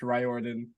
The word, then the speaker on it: Riordan: each other aside from my last name is pronounced ryorden and then just sort